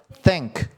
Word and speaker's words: thank: 뭐라고요 아 Thank you 거기서 유를 빼면은 뭐예요 Thank 요게 이제 탱크 아니고 th 발음으로 혈을 이렇게 약간 깨물었다가 빼면서 than 해야죠